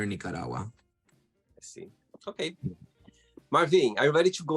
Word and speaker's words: Marvin: Marvin?